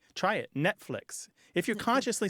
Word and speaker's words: Netflix: like Netflix where you most people don't say the T try it Netflix if you're consciously saying